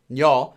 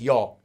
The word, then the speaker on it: 녀: And this character actually is just pronounced as 녀, but it's just read as 여 at the start of a word.